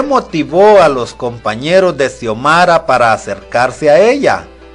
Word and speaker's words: Xiomara: el sonido es cuando la x se encuentra al inicio de una palabra se pronuncia como s por ejemplo xiomara pero si se encuentra